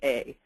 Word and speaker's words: yea: this one try to remember that it rhymes with you vote yay or nay at the PTA so this is yea so this is this